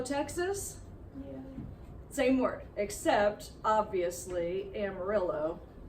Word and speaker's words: Amarillo: same work except obviously Amarillo is not pronounced how it should be it's horribly butchered so Amarillo Texas is